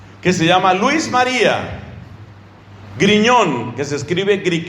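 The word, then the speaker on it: Grignion: amigo de él que se llama luis maría griñón que se escribe creek y no no con gm luis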